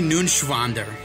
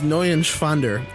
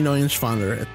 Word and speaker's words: Neuenschwander: Anthony Nunschwander. You didn't pronounce it right. Anthony Nunschwander. It's N-E-U-E-N. It's Neuenschwander. Anthony Neuenschwander.